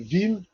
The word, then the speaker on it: Veeam: ne le savent pas le nom vim en réalité en en réalité vient vient de de la phonétique la prononciation phonétique de VM d'accord ce qui a